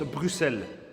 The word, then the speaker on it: Bruxelles: pas que ça oui on écrit Bruxelles avec un X on le prononce Bruxelles est-ce que tu as